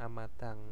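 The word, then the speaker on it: 앞마당: ya terus ada amadang nah ini bacanya amadang itu adalah e halaman depan terus ada amori bacanya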